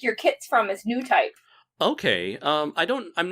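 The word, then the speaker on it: Newtype: think it would be Neo Type magazine. Oh, New Type. New Type. Thank you for saying it correctly.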